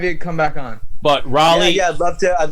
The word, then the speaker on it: Raleigh: that right away yeah a lot of people say rolly too but uh raleigh like uh like north carolina what did i say